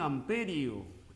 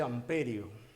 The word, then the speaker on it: ampere: La intensidad de corriente en amperio. En amperio. Aunque el nombre correcto es ampere, ¿no? Del francés. Ampere. En castellano se dice amperio.